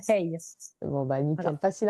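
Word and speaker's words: hej: Ça s'écrit H E c'est ça se prononce hey.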